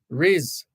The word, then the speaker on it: Riz: And Driver says you are pronouncing it correctly. Riz, like fizz.